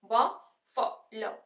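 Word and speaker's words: buffalo: बड़ा बए ब फ ब फ लव ब फ ल बफलो बफलो स्ट्रेस फर्स्ट प आ रहा है तो हम इसको बोलेंगे बफलो बफेलो यहां पे देखो यहां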